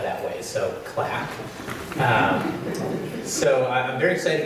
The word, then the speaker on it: CLAC: CAC and I said is that how it's pronounced cuz I was worried the you know the presentation I would continue to say CAC and everybody would look at me strangely she